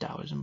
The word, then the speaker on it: Taoism: because it's taoism but it's pronounced as if it's a d it's pronounced taoism but it's taoism spell